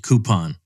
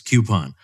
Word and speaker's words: coupon: I don't want to hear any of you old ladies who pronounce it coupon. Okay? Leave me alone. It's coupon.